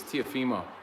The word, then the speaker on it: Teofimo: on, like, so no, you're putting the emphasis on the wrong syllable. And I'm like, dude, it's Teofimo.